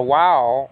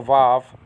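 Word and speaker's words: ו: I mean, you could have the wow, pronounced also vav, okay, be a V also.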